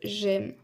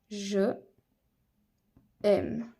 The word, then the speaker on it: j'aime: allons voir quelques exemples le premier exemple est celui de j'aime c'est-à-dire que normalement on aurait écrit je aime mais cette liaison ne marche pas donc on va l'écrire comme j'aime c'est-à-dire que on enlève simplement le E et on ajoute un apostrophe autre exemple j'habite on